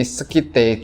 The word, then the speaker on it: Scythe: Tulisannya Scythe kayak gini, Scythe, cuman harusnya pronunciation yang benar itu dibacanya Scythe, gitu katanya.